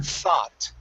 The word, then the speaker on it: thought: Okay, so practice that TH sound instead of taught. Okay, the thought, the TH is like a theta. Okay, Yeah. thought.